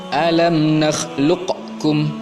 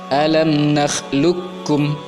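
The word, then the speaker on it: أَلَمْ نَخْلُقكُّم: Jadi qafnya tidak lagi berbunyi, langsung masukkan ke huruf kaf. Idgham namanya, idgham mutaqaribain. Alam nakhluqukum, bukan alam nakhluqkum, bukan. Cara baca yang tepat adalah alam nakhluqukum, langsung dibaca huruf kafnya seakan-akan qafnya tidak ada.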